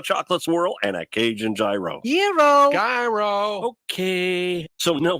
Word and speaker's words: gyro: and line at Papa Gyros I order the gyro Supreme suddenly the lady behind me chimes in it's pronounced Euro then the fellow behind her says it's a gyro I turn my back